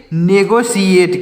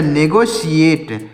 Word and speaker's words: negotiate: NEGOTIAT तो इसको पढ़ेंगे नेगोशिएट। क्या पढ़ेंगे? नेगोशिएट। NEGO नेगो, TI से हो जाएगा शी, ATE से हो जाएगा एट, तो हो जाएगा नेगोशिएट।